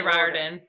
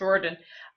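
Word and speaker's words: Riordan: Ling Thief books Rick I always say ryen but that's not how you say it yeah it's roen um he was very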